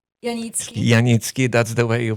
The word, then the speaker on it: Janicki: And today I have a special guest, and last name Janicki, that's the way you pronounce it.